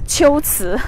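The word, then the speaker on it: 龟兹: so it should be the right way to pronounce the two characters is Qiuzi. So Qiuzi is the ancient name of Kucha, the place here.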